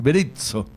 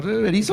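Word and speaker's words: Berizzo: Beritzo, eh, no berizo, una s, pero más berito. Sí, como pizza.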